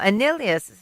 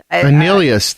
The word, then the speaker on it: Annihilus: No, Annihilus. Annihilus.